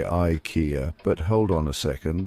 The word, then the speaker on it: IKEA: IKEA.